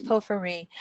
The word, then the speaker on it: porphyry: I don't know how you pronounce it exactly. That's it's porphyry.